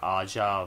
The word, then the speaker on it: Aja: get our demons featuring Aja vman it's Aja and then vman so pronounce it as you I was not doubting vman